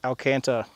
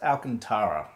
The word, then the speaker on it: Alcantara: you got a leather pair and a angled alcanta which I think is how it's pronounced oh hi it's me again uh so I Googled it and it's actually pronounced Alcantara so I'm going to pronounce it wrong for